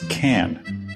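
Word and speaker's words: Cannes: The correct pronunciation is can like a can of soup, not like cans of soup.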